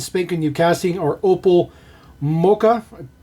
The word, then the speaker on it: Mokka: So there is our brand spanking new casting, our Opel Mokka. Pretty sure that's the way you pronounce that. M-O-K-K-A.